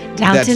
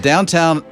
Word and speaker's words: Downton: Yeah, so that Downtown Abbey thing. There's no town, it's ton. Downton. Is it an English thing that they say downtown, Downton? Look how it's spelled. It's not spelled downtown.